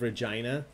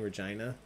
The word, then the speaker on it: Regina: When I said Saskatchewan earlier, but I was considering saying Regina. And then I always forget if it's Regina or Regina. But then I remembered. Remember? It rhymes with fun.